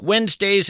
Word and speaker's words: Wednesday: If you're in fact scribbling this down, Wednesday is kind of tough to spell. It's not like it sounds. You want to spell it we nz, but that of course would be a mistake.